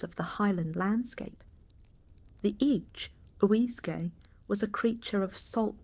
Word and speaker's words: each-uisge: The each-uisge, pronounced roughly each-uisge, is the being most frequently